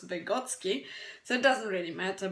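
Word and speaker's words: Vygotsky: discovered voty and votsi some pronounce his surname as voty but CU I'm from his background I know that he was vegotsky so it doesn't really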